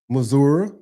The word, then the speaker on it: Missouri: Missouri or Missou, however you want to pronounce it.